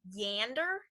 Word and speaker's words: yonder: So for an example of this, the pronunciation of yonder would be yander instead.